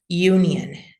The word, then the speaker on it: union: So yeah, you, like in university, if university, you would spell it like this with a Y and a tense U, and then union, and then you have another yeah, right? But that yeah is followed by another schwa, union.